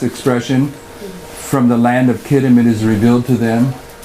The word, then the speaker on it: Kittim: How do we pronounce that? Kittim.